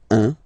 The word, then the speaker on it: un: All right, so when you combine this u and n, you get the nasal sound 1.